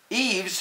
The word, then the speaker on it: Yves: almost done where why why is not for why but Yves who is wearing yellow